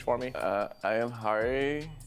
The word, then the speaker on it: Hari: Uh I am Hari. How do you spell that?